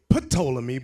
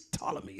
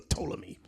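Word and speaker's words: Ptolemy: know we often say pamy but it's not pamy the p is silent it's tmy or toomy it's like saying PS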